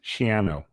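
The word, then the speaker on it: Schiano: the fighting shos yes shano it rhymes with piano I paid attention to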